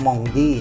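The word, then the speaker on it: Mendy: ยัง ไง เพราะ ว่า ถ้า จะ ออก เสียง ว่า บอง ทะแมง เมนดี้ มัน ต้อง ออก เสียง มอง ดี นะ เนี่ย แต่ ไม่ เป็น ไร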